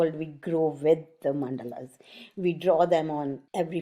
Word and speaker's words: mandala: as my first language it is actually a sanskrit word which is pronounced mandal it has been romanized